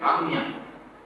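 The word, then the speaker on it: आज्ञा: Next chakra is Agnya. Agnya. Agnya. Agnya. In Bengali, Bangla pronunciation. What I have, because I read in Bengali.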